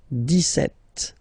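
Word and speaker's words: dix-sept: this it's here it's 10 and then set seven okay so it's clear but then for the pronunciation deset okay so you don't insist on the deset deset deset okay then so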